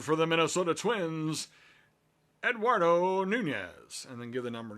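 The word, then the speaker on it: Núñez: Luke says, I hope I don't have to pronounce Eduardo Nunez's name.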